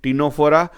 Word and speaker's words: Ctenophora: we shall move to Ctenophora. Here C is silent, we are calling it Ctenophora, and this Ctenophora members are commonly known as sea walnut or comb jelly, and they are exclusively marine.